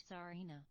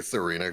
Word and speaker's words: Tsareena: It's more of an S sound. Okay. Getting pronunciation guide from chat. I'll be honest, I'm just gonna say Serena, guys.